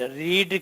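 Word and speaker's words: read: इज फ्रेम्ड and then it इज रेड रीड की जो third form होती है वो रेड पढ़ा जाता है स्पेलिंग सेम रहती है पहले मॉडल सेंटेंस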